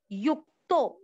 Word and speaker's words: युक्तो: मात मेति चाप युक्तो, यु के बाद में आधा का युक्तो। तीसरा चरण वापस। परमात्मेति चाप युक्तो, आधा अक्षर जहां पे भी है ना वहां एक बार स्टॉप करना होता है जिससे कि उच्चारण प्रॉपर आए।